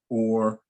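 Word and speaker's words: אור: was talking about, O-R-E, O-R is the pronunciation, whether you or. It doesn't really change the pronunciation, but so that you truly understand, it's not or. So I'll fix that. That was one of the typos I noticed. So the sound is or.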